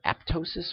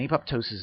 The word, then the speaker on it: apoptosis: it's called apoptosis now it can be pronounced either aptosis or apoptosis and apoptosis is generally the accepted term um in america it's